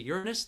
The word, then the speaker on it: Uranus: saturn with the naked eye we can't see uranus that's how you pronounce it we can't see neptune with the